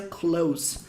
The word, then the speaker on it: clothes: A palavra roupas em inglês se pronuncia clothes. tem a mesma pronúncia de close, sabe? De fechar, verbo fechar.